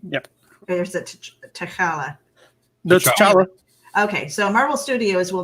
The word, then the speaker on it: T'Challa: how you say his name yep there's a tacala okay so marvel studios will not recast the